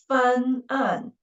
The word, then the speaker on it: 翻案: But if there are two syllables and the second syllable beginning with we should use the syllable dividing mark before the second syllable. So that is 翻案.